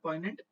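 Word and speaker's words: poignant: the difficulty this entails represents the पोइग्नेंट, पॉइनेंट बोलते हैं, जी silent होता है, पॉइनेंट, ये फिर से प्रोनाउंसिएशन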